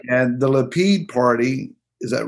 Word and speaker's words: Lapid: And the Lapid party, is that right pronunciation?